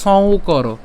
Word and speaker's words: সংকর: প্রথমেই হচ্ছে সংকর, এখানে আমাদের যুক্ত বর্ণের মধ্যে কি আছে, উঁ আছে এবং হচ্ছে ক আছে। হ্যাঁ, উঁ এবং হচ্ছে ক। তো উঁ উচ্চারণ করছি, তাই উঁ আমরা যদি সং উচ্চারণ করি অর্থাৎ দন্তস যদি নিয়ে আসি তাহলে কেমন হবে, সং। হ্যাঁ, এটাকে যদি আমরা ভাঙি তাহলে হবে কি, সং। আর বাকি অংশটা থাকে কি, কর। তাহলে সং কর।